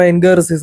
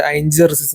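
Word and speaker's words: Ain Jarziz: അയൻ ഗറസിസ് എന്നാണ് എഴുതിയിട്ടുള്ളത് നമുക്ക് രണ്ടു രീതിയിലും അതിന ഉച്ചാരണം ഉണ്ട് ഇംഗ്ലീഷിൽ ഇപ്പോ നമ്മൾ പറയുമ്പോൾ അയൻ ഗർസിസ് എന്ന് തന്നെയാണ് പക്ഷെ അറബികൾ അതിനെ പറയുന്നത് അയൻ ജർസിസ് എന്നാണ് അതുകൊണ്ടാണ് അയൻ ജർസിസ് എന്ന് പറയുന്നത് കേട്ടോ ഇങ്ങോട്ട് പോകുന്ന സ്ഥലം കാണായിട്ട് നല്ലഭ ഭംഗി തന്നെയാണ് കട്ടോ.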